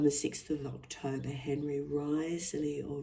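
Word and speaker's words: Wriothesley: Henry Risely or Rosely even though it's pronounced sorry it's got a W at the front I think the correct the corre correct pronunciation is Risley the third Earl of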